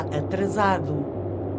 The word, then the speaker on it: atrasado: O comboio está atrasado. O comboio está atrasado. O comboio está atrasado. Está atrasado. O comboio está atrasado. Atrasado. O comboio está atrasado. No, za. It's a za sound.